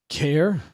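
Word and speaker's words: Caer: Care Daval. Okay. Like I care for like how uh she cares for you.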